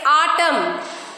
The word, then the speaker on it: autumn: N is silent. We are writing but we are not reading. Next, autumn, dam, hind. In all these words, N is coming after the letter N is coming after the letter N. So N will be silent here.